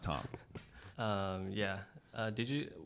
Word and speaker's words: Thom: um it is not Thum it's Tom even though it's t h o m it's it's pronounced Tom um yeah uh did